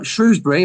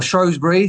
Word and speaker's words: Shrewsbury: Saturday and it's sh Shrewsbury or shrewbury depending on your pronunciation versus Wickham Wickham are